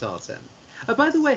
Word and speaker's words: Artem: So with M at the end, like the word them, T-H-E-M, that gives us Artem.